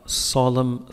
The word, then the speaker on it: solemn: Solemn funeral. لا تنطق إن, قول solemn funeral.